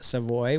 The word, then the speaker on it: Savoy: How would you like us to pronounce it? Savoy Savoy. would be sufficient. I do Savoy would be appreciate We would that. like you to say Savoy. That's how it's pronounced.